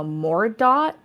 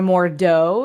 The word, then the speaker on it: Mordaut: But she quickly figures out that he's something called a mordot or a mordeau if it's French. I don't know how it's pronounced, but it's like Mordaut. Or dot And is how old Tim Curry pronounced it.